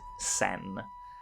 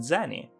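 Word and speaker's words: 銭: is not exactly correct because it is true that the kanji can be pronounced sen but that indicates a specific currency that wasn't used until 1873 and just means scent or a fraction of a yen during sakura's time period that word just meant something like spare change and was instead pronounced zenny small coins made out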